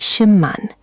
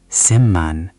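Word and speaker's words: 십만: Look at Shipman, meaning 100,000. Shipman. But b meets m, so the b becomes m, too. Shimman. You've got it, Ezra. Shimman. Go ahead and say it. Shimman.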